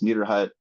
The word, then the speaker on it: Niederhut: My last name is Niederhut. It's got a lot of letters in it, which sometimes scares people. It's just pronounced like my hut is neater than your hut.